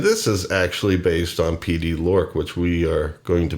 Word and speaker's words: Pd-L2Ork: And if you read here, you notice I've been saying Pd-L2Ork. Well, it tells you in this paragraph that that is the correct pronunciation.